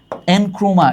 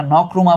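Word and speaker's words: Nkrumah: এই এনক্রুমা না উচ্চারণ হচ্ছে নকরুমা।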